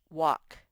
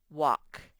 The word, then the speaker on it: walk: more about how lk the l is silent this word says walk the l sort of makes the a say ah walk i have to walk to school and finally